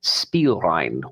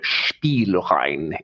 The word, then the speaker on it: Spielrein: And of course, who can forget the strong character portrayals of our ménage à trois, namely Freud, Jung, and Spielrein, or Spielrein, if you want to say it like that.